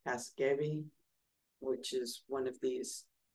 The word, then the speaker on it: Casgevy: So on December 8th, the FDA had a press release about, I guess it's pronounced Casgevy, which is one of these therapies from Vertex about sickle cell disease.